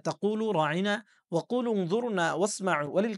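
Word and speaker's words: راعنا: কিন্তু এই ইহুদিরা আল্লাহর নবীর শানকে ধূলিসাৎ করার জন্য বা নষ্ট করার জন্য তারা এই রাঈনা শব্দটার আইনটাকে একটু টেনে পড়তেন। তার মানে ইয়া উচ্চারণ করতেন রাঈনা, আরবিতে যার অর্থ দাঁড়ায় আমাদের রাখাল।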